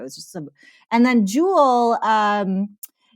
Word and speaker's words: Joule: it exact right uh jewel like a gem foul like wow okay